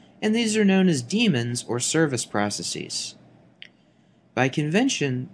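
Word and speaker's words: daemons: the modern spelling however the pronunciation is the same Damon is incorrect even though many people mispronounce it now the C code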